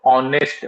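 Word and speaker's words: honest: याला अ लागेल परंतु जर याला आपण म्हटलं ऑनेस्ट मॅन सुरुवात कुठून झाली स्पेलिंगची एच पासून तरी सुद्धा याला न लावायचं असते कारण याचा उच्चार जो आहे तो पासून सुरू होत असते एच हा शब्द जो आहे हा सायलेंट असतो च उच्चार आपण काढत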